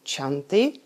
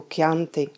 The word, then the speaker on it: Chianti: To znamená, že proslulé italské víno nebudeme vyslovovat ani číst jako Chianti, ale jako Chianti.